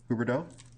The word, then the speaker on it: Huberdeau: So the next speaker is Huberdeau. You pronounced that pretty well. Nice job. Good evening. My name's Huberdeau, and I teach 11th grade English at Warwick High School.